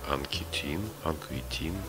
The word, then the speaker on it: Анкетен: Луи Анкетан, французский художник, теоретик искусства, один из основателей синтетизма в живописи. Луи Анкетен, или, возможно, его фамилия произносится правильно, Анкетин, родился в французском городе Трепаньи, в состоятельной семье.